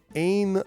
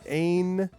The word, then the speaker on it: Ain: It's Ain Lee. Ain. Yeah, 2 syllables.